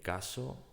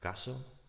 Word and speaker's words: casó: El caso fue resuelto por la policía.